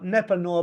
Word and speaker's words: Nepanoa: expert guidance and an unrivaled collaborative experience now NEPA Noah began operations in 2020 and his resources in